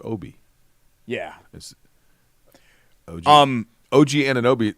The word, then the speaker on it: Obi: but it's OB I but his name is pronounced Obie yeah um OG an anobi OG is not